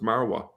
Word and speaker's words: Marwa: we that is in in Hebrew essentially Mariah but in Arabic you would pronounce it marwa mount scopus well that's